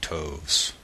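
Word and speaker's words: toves: that has often been asked me how to pronounce slyy toes the eye in slyy is long as in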